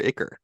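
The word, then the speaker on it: ichor: blood that's called Iker is it Iker or icker it's either one okay just wanted to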